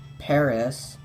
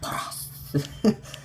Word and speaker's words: Paras: You can find also Paras, I think is how they say it in the anime. Paras.